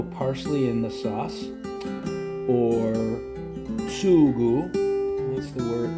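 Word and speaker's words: sugo: So there's no parsley in the sauce or sugu. That's the word. That's the Sicilian word for sauce. In Italian, it's spelled s u g o.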